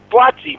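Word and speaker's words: Buatsi: Uh Batzi.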